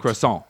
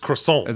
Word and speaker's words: croissant: Croissant. It's just croissant. There's no T.